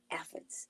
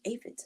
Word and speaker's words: aphids: if a ladybug eats Elephants or aphids as some people pronounce it the leaves can